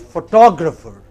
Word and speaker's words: photographer: Again, in both cases you have a stress on the initial syllable. But look at the next word, it is photographer.